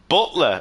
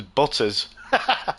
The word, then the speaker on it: Butler: Butler, or as his name got mispronounced in one of the other series. He's from CC Sim Racing with Craig Cook, who's the commentator over there, and he mispronounced his name as Butters, or Butter instead of Butler, and it stuck.